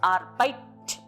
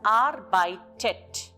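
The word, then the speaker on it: arbeitet: r by Tet here if I have to pronounce the word without e it becomes arpite where the two T's are together and doesn't sound good so with this T in between it sounds as R by Tet then for plural it's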